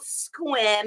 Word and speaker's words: Sequim: this little little tiny town called squim everyone pronounces it a Sequim and I moved back